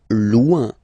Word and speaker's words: loin: Loin. Loin. So remember when you get this combination O I N, it's loin, loin, loin.